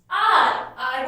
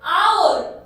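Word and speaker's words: hour: For example, इसे क्या बोलेंगे हम? R बोलेंगे या फिर our. तो क्या हो गया वो? O साउंड आ रही है, साउंड तो O आ रही है और H हमारा साइलेंट है, तो इसलिए इसके आगे लगा A-N-N.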